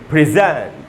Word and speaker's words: present: में लिख दिया मैंने, इसको पढ़ेंगे प्रेजेंट। प्रेजेंट, जै में जो ए है उसी पर स्ट्रेस है, मैंने अंडरलाइन कर दिया है, वहीं पर ज़्यादा रुकना है, बोलेंगे प्रेजेंट।